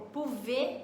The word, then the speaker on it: pouvez: É um exemplo aí, então, que a maioria das consoantes finais a gente não pronuncia.